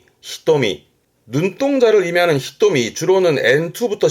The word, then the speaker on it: 瞳: 눈동자를 의미하는데 발음이 히토미.